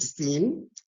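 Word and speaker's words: سين: So, as you can see seen is pronounced seen and it's like an S in English, S in English.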